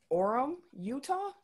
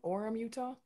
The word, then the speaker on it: Orem: you know how to say this city properly orem utah o-r-e-m orem utah welcome horn forum number one that's okay number